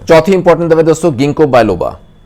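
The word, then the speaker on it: Ginkgo biloba: चौथी इंपॉर्टेंट दवा दोस्तों गिंको बायलोबा, इसको जिंको बायलोबा पे प्रोनाउंस करते हैं लोग, चलेगा, गिंको बायलोबा बेसिकली।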